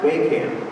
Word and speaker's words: Wehkamp: struggling the whole life it's pronounced we can by the way I'll